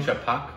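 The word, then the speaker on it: Chhapaak: I think was chapak is that how you pronounce that right chapak yeah yeah with the Thea Thea yeah I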